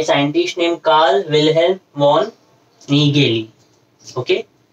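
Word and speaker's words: Nägeli: Chromosome was first discovered by scientist named Carl Wilhelm von Nageli. Okay? A के ऊपर दो dots है, German word है, A umlaut बोलते हैं, pronounce as A. A, E, A. Okay? Carl Wilhelm von Nageli.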